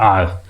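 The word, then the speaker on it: hour: I have been waiting for Khalistan आवर्स। इसका उच्चारण जो है ना ये होती आवर होती है।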